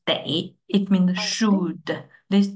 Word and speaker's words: 得: Then, so, 得的是的， This one, pronunciation is de.